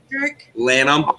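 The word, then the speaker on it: Lanham: if it wasn't for Lam l a n h a m H is silent in my last name it's Italian and if wasn't here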